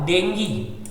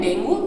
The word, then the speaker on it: dengue: क्या है, DENGUE, तो इसको ऐसे पढ़ते हैं डेंगू, लेकिन इसका सही प्रोनाउंसिएशन क्या है बेटा, डेंगी, इसको सही से पढ़ते हैं तो इसको डेंगी बोलते हैं। मैंने पिछली बार आपके सामने डेंगी नहीं बोला क्योंकि आप लोग फिर समझ नहीं पाते, तो आप लोगों को समझने के लिए इसे अभी डेंगू बोला था, बट इसको प्रोनाउंस क्या करते हैं हम, डेंगी, इसको डेंगी बोलते हैं, डेंगू नहीं बोलते, ठीक है।